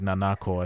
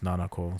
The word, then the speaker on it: Nanako: think it's not like nanako I think it's nanako so that one's different